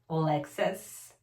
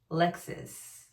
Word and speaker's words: Lexis: Not Lexus, Lexis.